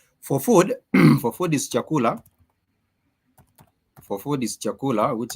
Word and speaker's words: chakula: has it has La these are the three syllables in this word chakula and therefore the way it's written it sounds the way you pronounce it is almost just as direct as it is written only what the only